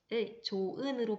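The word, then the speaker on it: 좋은: 조은으로 발음이 되는데요. 자, 여기서 보면 발음이 될 때 보니까 멀쩡히 살아있던 히읗이 전혀 발음되지 않습니다. 이렇게 안 된단 말이죠. 조은, 자, 히읗 없어졌습니다.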